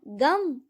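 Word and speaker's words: गं: गण के प्रथम शब्दांश ग का उच्चारण करने के बाद वर्णों के आदि अर्थात अ उच्चारण करें। उसके बाद अनुस्वार अर्थात म का उच्चारण करें। इसके बाद इसे अर्ध चंद्र से सुशोभित करें। इस प्रकार गम ओमकार से अवरुद्ध होने पर भी तुम्हारे बीज मंत्र का स्वरूप ओम गण बनता है।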